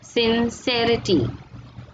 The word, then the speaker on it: sincerity: See the way I am pronouncing sincere, sincerity, possible, possibility, valid, curious, curiosity.